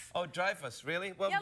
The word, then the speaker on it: Dreyfus: It's not Dreyfus. What is it then? Dreyfus. Dreyfus? Yeah, like drive a car, but Dreyfus. Oh, Dreyfus, really?